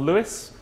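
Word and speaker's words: Lewes: in a town called Lewis not spelled the same as your tram line but pronounced the same uh in East Sussex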